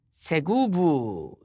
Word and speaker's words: 스굽: 또 네 번째 아들은 스굽인데 이 스굽은 히브리어로 세구브라는 발음이 됩니다.